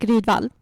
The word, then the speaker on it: Rydvall: Yeah, Erik Rydvall.